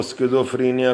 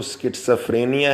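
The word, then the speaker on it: schizophrenia: कुछ लोग इसको स्किज़ोफ्रेनिया, कोई शिज़ोफ्रेनिया पढ़ लेते हैं, बिल्कुल ऐसे ही जैसे सजेशन, कोई कहते हैं कोई कुछ, तो जिसका सही प्रोनाउंसिएशन सजेशन है, तो इसका सही तलफ़्फ़ुज़ तो स्किट्साफ्रेनिया है, एक पागलपन है।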